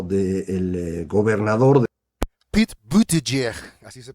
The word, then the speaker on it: Buttigieg: Tiene usted gente muy civilizada y liberales de centro, como es el caso de Pete Buttigieg o del gobernador Pete Buttigieg, así se pronuncia.